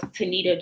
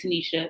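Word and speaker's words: Tenita: the book coach was tanita johnson well she pronounces it tanisha it's t-e-n-i-t-a john and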